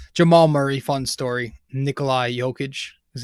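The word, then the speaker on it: Jokić: nuggets you know jamal murray fun story nikolai jokage is how you pronounce his name fun story cool players to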